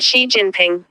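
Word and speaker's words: Xi Jinping: Chinese President Xiinping.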